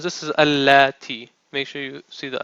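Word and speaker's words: التي: And this is not this, how you pronounce this is allati.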